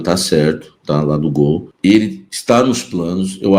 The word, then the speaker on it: Goal: do site Gol né se escreve goal mas é se L Gol site Gol deu a